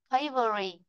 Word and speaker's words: favorite: Trọng âm sẽ rơi vào ngáng. Con huyên huyên nó không có trọng âm. Favorite. Vì vậy là nó sẽ rơi vị trí thứ nhất.